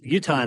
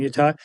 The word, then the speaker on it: Utah: like most Outsiders so Utah Utah this is how we say it s and my take on this is that Zion National Park is in our state so the way the locals say it is the correct way okay the next mistake